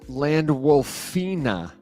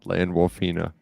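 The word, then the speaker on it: Landwolfina: will not land wolf land wolfina land wolfina he got he got himself a little girlfriend W Fina what's misrepresentation spell it Ina like Aquafina but land wol well my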